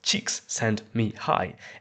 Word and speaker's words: Csikszentmihalyi: In the '70s, this guy called Mihaly Csikszentmihalyi, pronounced "cheeks sent me high", a fact that the